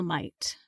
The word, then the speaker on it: might: how do you spell might Mark m i g HT yes so it rhymes with the word night as in night and day and the spelling is